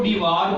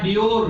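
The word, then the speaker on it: Dewar: जबकि हमारे पास एक और साइंटिस्ट है, उसको डिवार बोलते हैं या डियोर भी इसको आप कह लें, कुछ जगहों पे प्रोनाउंस किया गया है।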